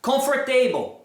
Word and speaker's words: comfortable: Comfortable, comfortable, comfortable, comfortable, comfortable. Você pode até comer o T aí.